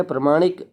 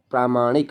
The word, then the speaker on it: प्रामाणिक: ठीक है दुश चरित्र आगे प्रमाणिक प्रामाणिक होता है ना कि प्रमाणिक होता है प्रामाणिक आप जैसे ही उच्चारण करते हैं ना वैसे ही आपके माइंड में चीज रहेंगी ठीक है प्रामाणिक हमेशा प्रमाणिक ना पढ़े इसको प्रामाणिक पढ़े ठीक है तो ऐसे